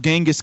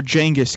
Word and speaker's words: Genghis: is the wrath of Genghis Khan or jenga's Khan I've been saying it wrong my whole life um anyway it's an